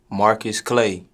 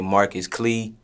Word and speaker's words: Marqus Clae: the correct way to pronounce your stage name marcus clay do people mispronounce this absolutely do people misspell it absolutely what do you notice people do more both is equal they either say marcus clee mark was clay or don't even know how to pronounce that